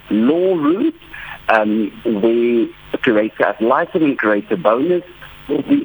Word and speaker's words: ad litem: So what is the difference between the curator bonus and the curator ad litem? Is that how you pronounce it? All right. Yeah, ad litem.